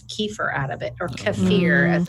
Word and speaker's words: kefir: out of it, or kefir as it's pronounced. As the Russians say, kefir.